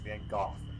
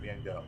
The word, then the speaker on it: van Gogh: for saying that Gotham that is how you pronounce his name is van Gogh not men dou R yes do you